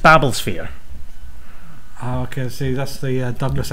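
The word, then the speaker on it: Babblesphere: and you could win uh one of the Babel spere uh CDs Tom Baker story I'm going to stop you it's pronounced babbles spere okay see that's the Douglas Adams fan now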